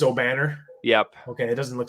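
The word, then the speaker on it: Obanor: It's Obnafor. Is that correct? From O'Banner, Kevin O'Banner from Oral That's Roberts. How you pronounce it? It's O'Banner?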